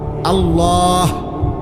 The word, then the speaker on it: আল্লাহ: শেষে আল্লাহ। শেষে একটা গোল হা আছে ছোট হা। আল্লাহ মানে আল্লাহু তো হুটারে